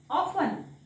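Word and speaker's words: often: काय होईल लि स न लिसन तसाच हा ऑफन ऑफन नेक्स्ट हा च जोडीचा आहे बघा टी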